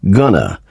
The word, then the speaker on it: gonna: In speaking, going to is usually pronounced gonna when it comes before a verb. However, do not write gonna.